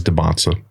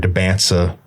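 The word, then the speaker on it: Dybantsa: The way he pronounces it is DeBonsa. DeBonsa. These people, I've heard DeBansa. It's DeBonsa. That's how I pronounce it, actually.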